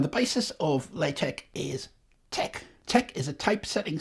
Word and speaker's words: TeX: of the game where he is very clear that it is pronounced Tech very clear so Tech it is now late Tech is